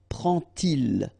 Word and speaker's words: prend-il: to show you that you won't pronounce it like d to make the liaison, but you will pronounce it like t. And so you will get prend-il, okay?